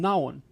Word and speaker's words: and: And So from now on, do not say and fully. Do not pronounce this word fully, okay? And. No. Just remove A, remove D. You don't need to say A and D. Only say N.